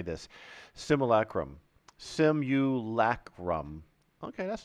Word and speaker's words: simulacrum: would never be able to say this simulacrum sem you lack rum okay that's not too bad oh this is